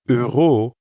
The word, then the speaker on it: euro: In euro, notice how you can hear the same sound as in je and that French r sound that comes from the back of the throat.